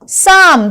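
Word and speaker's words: psalm: साम, this word is साम, पी यहां पे साइलेंट है।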